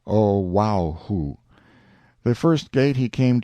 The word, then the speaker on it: Oahu: him after this island Oahu pronounced oaho the first gate he